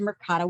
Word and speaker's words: Mercado: information about the program, they said Mercado with a Spanish accent because they were in fact Hispanic, which was, by the way, the correct way to say the word.